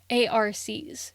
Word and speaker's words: ARCs: often referred to as advanced reader copies or arc's pronounced arcs in hopes that the